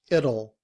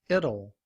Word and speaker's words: it'll: But when we reduce our speech, will, we don't pronounce the W, and we just use the schwa and the L to say O.